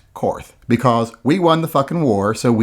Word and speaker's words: Korth: i know a lot of people say that's pronounced court because germans and blah blah blah now it's pronounced karth because we won the war